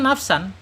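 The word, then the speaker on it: نَفْسًا: Tapi tanwin ini ya menghadapi apa? Ketika tanwin ini menghadapi huruf fa, berarti bacaannya bukan nafsan lagi, bacanya menjadi nafsan ya, nafsan. Jadi disamarkan kemudian ditahan 2 harokat ya.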